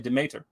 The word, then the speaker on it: Demeter: kept calling it no the word is actually demater right or Demeter depending on the pronunciation but it's d-e-n-e-t-e-r and it means the mother in Greek and he kept calling it determer and it's there in